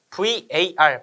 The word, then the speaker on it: var: 무효 전력은 어 PR로 쓸 수 있고 VAR 바라고 읽습니다.